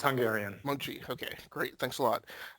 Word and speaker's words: Mocsy: today inside the sphere we have um Moxy I may have messed up the pronunciation of that no problem it's Mochi it's Hungarian mchi okay great thanks a lot uh is